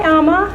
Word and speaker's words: Ama: like to go by Amma everybody say hi Amma hi it also rhymes with your mama and my mama is